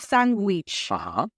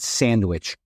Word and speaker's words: Sanguich: It's the typical tale of, what onomatopoeia, which is basically it's pronounced the way it is spelled, but pronounced in Spanish, right? We don't use the DW in Spanish. We almost translate that into G.